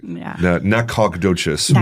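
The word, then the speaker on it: Nacogdoches: the great city of Nacadocious, the oldest town in Texas. Dang it. You have some pride there. Oh man, I should I love Nakodocious with the G is silent people.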